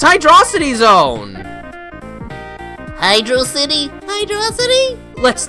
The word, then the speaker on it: Hydrocity: But yeah, it's spelled as one word, so you should Taste the word like it's one word. Hydrocity. Hydrocity sounds like a two-word thing.